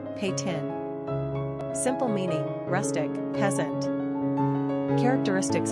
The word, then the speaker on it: Peyton: Pronunciation, Peytun.